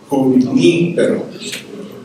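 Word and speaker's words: Junípero: So the accent is on the ni. Junipero. So you need to practice that. That's how it is pronounced, because it's a Spanish name.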